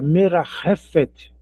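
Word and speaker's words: מרחפת: Esse ch da transliteração é o é é o rete. Não vou ler como merafet, não é? É merafet. Pode arrastar a garganta mesmo.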